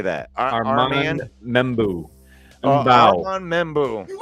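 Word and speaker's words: Armand Membou: Armand Membu.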